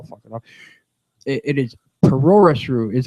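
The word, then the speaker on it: プロレス: I'm gonna try and pronounce it right now, and I'll fuck it up. It is Puroresu is how it is. Puroresu.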